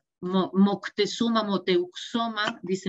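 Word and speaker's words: Moctezuma: entonces como que lo es para nissan o moctesuma motel omar dice montesuma pues como eso muchísimos nombres de nombres en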